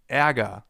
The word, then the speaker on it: Ärger: It's pronounced like this. Ä, as in Ärger, the German term for anger. And anger actually contains a sound that comes pretty close.